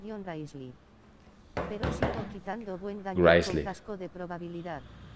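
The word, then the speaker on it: Wriothesley: Diocesli pronunciación Grizzly. Pero sigo quitando buen daño Grizzly. con casco de probabilidad. Grizzly. Ya antes le decía Griothesley. Griothesley. Grizzly.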